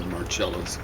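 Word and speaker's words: Marcello: He ended up seriously dead all except for Carlos Marcelo or Marello's probably the better way of pronouncing his name.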